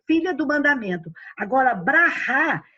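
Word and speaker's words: ברכה: É É Baracá, porque mas Baracá. porque o inglês, quando coloca esse som do Rá no final, ele coloca um K com um H, que aí ele fala Baraque, mas a pronúncia correta de Israel é Rá, entendeu?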